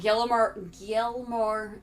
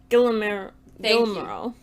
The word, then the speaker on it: Guillermo: Then, Gilmore, I can't ever say his name. Guillermo.